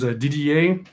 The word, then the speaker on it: Didier: Well, my name is Didier. Just like the letters DDA.